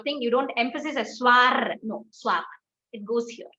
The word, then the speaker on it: soir: Ma'am, would we speak R and soir? Yes. Soir. Okay, it just goes and it rolls in your thing. You don't emphasize a soir.